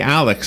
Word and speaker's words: ALYX: So when we went in, she asked me if I would consider doing the Alex, and I wanted you to explain what Alex is again, only because I couldn't explain it other than there's like double the thing.